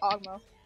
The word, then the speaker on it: Ogmo: boss was pretty shitty anyway let's go get ogmo that's how you say it you're the [